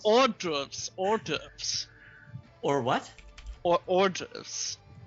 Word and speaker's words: hors d'oeuvres: Hors d'oeuvres. Hors d'oeuvres, I believe is how it's pronounced. Hors d'oeuvres. Or what? Or hors d'oeuvres. Not. No. You do not put the W in front.